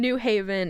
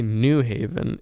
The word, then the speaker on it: New Haven: Oh, you say New Haven? Ew. I never heard of how do you say No. it? You were saying it right. You're just saying New Haven instead of New Haven. New Haven. That's like saying New York.